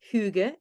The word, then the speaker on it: hygge: And you mentioned hygge. Am I pronouncing that right?